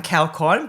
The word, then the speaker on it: Kaeokon: Yep, so or Kaeokon, but it's funny to pronounce with my surname, but is good.